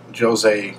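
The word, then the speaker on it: José: And Jose Mourinho has expressed interest. First of all, let me just say, in America here, we would pronounce his name Jose, as the Spanish pronunciation.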